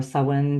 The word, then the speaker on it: Samhain: example, but also through Samhain, which is, or Samhain, depending how you say it, which is one of the cross-quarter days.